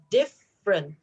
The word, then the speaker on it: different: you say it different it says different three but actually you only have to say two different and then this